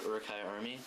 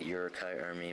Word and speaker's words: Uruk-hai: So next we have Uruk-Hai Army, or as the designer Martin Klotz says it, Uruk-Hai Army, but that's not how you say it.